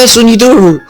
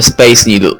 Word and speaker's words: Space Needle: It's a super Suniduru! Surprise? What? It's called the Space Needle. Okay. Nobody's going to understand you say it like that, Nanami.